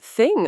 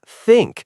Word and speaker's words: think: I've heard people say I have to thing about it. Yeah, it's think with that th sound. Got to get that tongue out just a little.